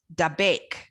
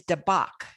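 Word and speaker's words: דבק: If you hold tight, the original is dabek, D-A-B-E-Q phonetically, but the root is dabak, is a way of clinging, just a deep clinging, so like you're being glued to something.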